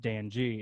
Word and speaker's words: DAN.G: used to write it on my school papers dan g yeah i was i was talking to jesse